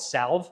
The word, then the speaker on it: salve: stuff called it's a I call it Salve but I think it's pronounced Sav all it is is